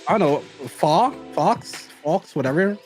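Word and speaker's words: faux: I don't know fa Fox Fox whatever f a uux f f see I'm I'm from the hood I'm illiterate it's pronounced fo uh I don't have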